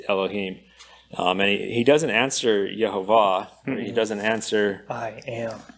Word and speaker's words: Yehovah: So we pronounce it Yehovah, and one of the reasons we pronounce it Yehovah is because of the work that Nehemiah Gordon has done in studying out the name and how it's written.